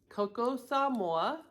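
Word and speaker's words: Koko Samoa: This is called Coco Samoa, and it's spelled K-O-K-O, Samoa.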